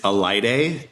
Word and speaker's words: Alaide: Can you say her name slowly, because she's got the craziest name, and spell it for us too? It's Elide, and it's ALAIDE.